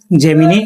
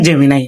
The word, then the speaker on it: Gemini: তো এটা অনেকে উচ্চারণ করে জেমিনি, এটা সঠিক উচ্চারণ হবে জেমিনাই, ঠিক আছে।